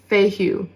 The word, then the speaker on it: Fehu: So the rune associated with the Tower is pronounced Fehu.